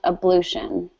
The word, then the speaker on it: ablution: my liquids-rich likkle Europe excellent so that's actually pronounced ablution we're okay right of ablution excellent good yeah